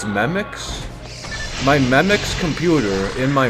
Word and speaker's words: Memex: So it's not Memex, it's Memix.